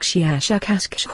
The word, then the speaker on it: Shiashakasksh: of your human letters, something like Shiashakasksh with a very, very strong pronunciation of the SH and K sounds.